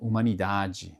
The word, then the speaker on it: humanidade: A letra H em seguida, a letra H não tem muita complicação porque na verdade não tem som, né? Por exemplo, humanidade, né?